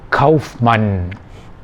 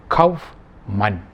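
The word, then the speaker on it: Kaufmann: the ganet the word kaufman businessman if you pronounce it it is kauf man you hear the emphasis twice cough man so it is known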